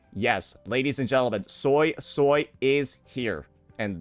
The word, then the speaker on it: Suisui: It's going to be Soy Soy. Yes, ladies and gentlemen, Soy Soy is here. And that is how Jiny pronounces her name in the story.